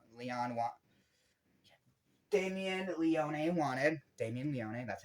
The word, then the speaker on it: Damien Leone: Damien Leone, that's how you say his name, the creator, the master of this movie.